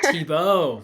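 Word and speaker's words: Thibault: to pronounce Eric tibble is it tibble tibo tibo see there we go yeah um I I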